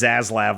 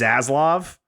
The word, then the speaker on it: Zaslav: ] what a dick I also like that we pronounce zaz laab like stats lab I think that's fun what is it supposed to be I just assumed it was zaslav Oh Oh I thought